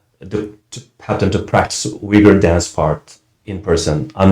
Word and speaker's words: Uyghur: Am I pronouncing that? Uyghur dance group. Uyghur, yes, Uyghur dance.